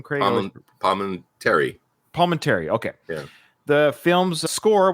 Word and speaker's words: Palminteri: Palminteri.